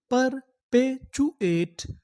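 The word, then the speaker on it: perpetuate: यहां पर जो हमारा टी यू है उसे पढ़ेंगे चू। आगे क्या लिखा है, ए टी ई, एट। पूरी मीनिंग क्या बनी, पर पे चू एट, परपेचुएट, परपेचुएट।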